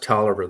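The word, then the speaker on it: Taliaferro: last as far as broke counties no money talifero County it's t a i l a f e r r o it's pronounced toer though I mean poverty around here is like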